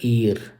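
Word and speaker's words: heir: एयर देखो एच लिखा हुआ है मगर इसकी प्रोनाउंसिएशन आप होती है एयर एयर एयर एयर करके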